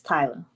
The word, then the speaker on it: Tyla: tyler if you would introduce yourself did i pronounce it right is it tyler yes tyler welcome to travel and if